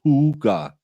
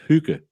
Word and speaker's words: hygge: No, it's not pronounced hugah. It's pronounced hugah.